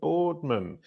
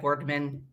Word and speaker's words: Boardman: I'm here with bourman is that the correct way to say your name it is not it's bardman a quick hello and